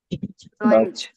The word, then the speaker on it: Deutsch: ডয়েচ ডয়েচ wait a minute ভাই, এটা ডয়েস না ডাউস?